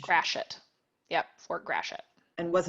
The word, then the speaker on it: Gratiot: And then a question, what is the correct pronunciation of Fort Gratiot? Was it a French Gratiot. settlement at that time? Gratiot. Gratiot.